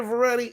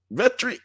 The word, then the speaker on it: Vetri: But yeah, man, like, Victoria Veretti. I mean, Veteri, Vetri. I was saying it right early.